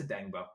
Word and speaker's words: Odeyingbo: I don't know how to pronounce his name. I apologize, but I'm so happy to see Dayo Odeyingbo. Odeyingbo. It's Odeyingbo.